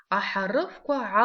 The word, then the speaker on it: ахарыфка: Ахарыфка алшка. Ахарыфка алшка. Назовите буквы. Значит, сначала мы разберем эти два слова. Ахарыфка алшка. Звук х пишется как х, палочка. Звук к пишется как к в слове ахарыфка.